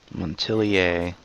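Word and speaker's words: Montilyet: have you as an advocate lady thank you montelier that's how you say it politics have become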